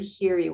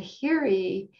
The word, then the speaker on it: hiri: yeah so this first part of the word hiri which is if um if you're not able to access the chat is spelled h-i-r-i in poly and hiri is um